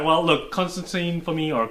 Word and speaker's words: Constantine: Well, look, Constantine for me, or Constantine is apparently how you're supposed to pronounce it.